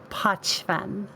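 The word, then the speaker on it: Pochven: poshman by the way is it pachmann or poshman how do you say it i i was told that the correct way of saying it is patchfun i okay i have trouble remembering to say it like that because i look at it and see pokemon right yeah but that's apparently wrong all right and uh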